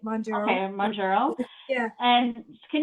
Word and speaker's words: Mounjaro: You said it right, Mounjaro.